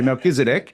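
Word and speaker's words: Melchizedek: You don't need to pronounce a every time you say MelkiseDC, but say it with a K instead of a ch sound is my point.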